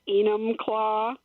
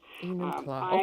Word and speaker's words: Enumclaw: on the line from Enumclaw. I hope I'm pronouncing that correctly. Hi, Denis. Hi, that was close. Nobody can say it. What is it? It's Enumclaw. It's a Native American name. Enumclaw.